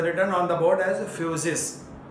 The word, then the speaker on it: physis: Physics word is derived from Greek word physis. Just see on the board. It is written on the board as physis. We can pronounce it as F-U-S-I-S.